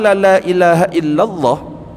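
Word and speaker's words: لا إله إلا الله: warna qqaq la ilahaillallah waddaha hadimat lahuatu alafambin minal kabair. Dan sungguh telah disebutkan hadis bahwa siapa yang mengucapkan lailahaillallah dan memanjangkan kalimat tersebut jadi bacanya agak panjang.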